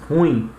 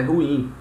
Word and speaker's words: ruim: chamamos ruim né Nós chamamos ruim né mas o correto é ruim na cara no caso